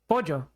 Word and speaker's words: pollo: why are like like the Spanish word instead of like just oh that's right that's pojo yeah whoops how do you pronounce it pojo okay yeah pojo there's